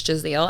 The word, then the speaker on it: Jahzeel: little differently j a h z l it's Jazelle I don't know that's how it's spelled I don't know why my mom called